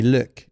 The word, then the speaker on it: Luc: So my my even though everybody in the US calls me Luke in in Quebec, they call me Lick. That's how you pronounce it.